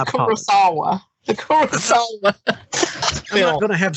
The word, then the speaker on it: Kurosawa: of coming full circle karasakwa no kurosawa what'd i say kawasaki i apologize good lord it ain't that hard to pronounce even i can pronounce it jesus it's the kurosawa the chorus i'm gonna